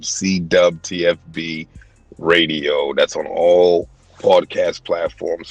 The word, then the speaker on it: CWTFB: I know it's spelled with a W. We say dub. CWTFB Radio.